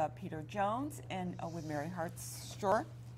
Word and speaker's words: Hartshorne: We're going to be talking right now with Peter Jones and with Mary Hartshorne. How do you pronounce it? Hartshorne. Hartshorne. I got it right.